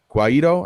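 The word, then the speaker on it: Guaidó: the president of Venezuelan National Assembly, Juan Guaido, Guaido, I think is how you say that, as the interim president of the country.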